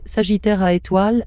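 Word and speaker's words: Sagittarius A*: Le trou noir au centre de notre galaxie, Sagittarius a prononcé Sagittaire à étoile a été récemment photographié par le projet Event Horizon télescope l'cheté.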